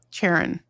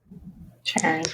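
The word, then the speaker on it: Charon: It's like Sharon. Sharon.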